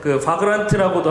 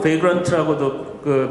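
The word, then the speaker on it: Vagrant: 가상화라는 건 포기하지 않으면서 좋은 방법이 하나가 있었는데, 바그란트라고도 하고 베이그란트라고도 발음을 하던데, 이 바그란트라는 걸 이용을 하게 됐습니다.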